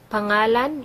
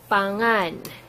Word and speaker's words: pangalan: Imong is your here, pangalan is name, sometimes we say it pangan. Sometimes we say it like this because Cebuano likes to shortcut words and you will hear it like this. Some of you will hear it pangan instead of pangalan.